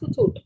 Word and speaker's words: Kahoot: Actually, I had referred to, I didn't know it was pronounced Kahoot.